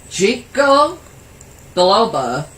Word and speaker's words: ginkgo biloba: Ginkgo biloba. I know I probably stuttered there. I didn't. That's actually how it's pronounced.